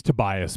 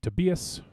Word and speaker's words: Tobias: tobias well i mean it's tobias but the way i think with their accent she kept saying to bs but we can say tobias it's fine i'm from [ __